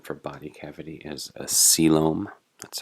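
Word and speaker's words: coelom: this the term for body cavity is a selom that's how that word is pronounced here the fate of the blastopore so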